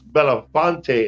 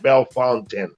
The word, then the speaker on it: Belafonte: Those are those people who don't pronounce Belafonte and they call it Belfontaine.